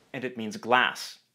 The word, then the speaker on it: glass: and it means glass. This word has a short A vowel, Glass. and it means ice cream.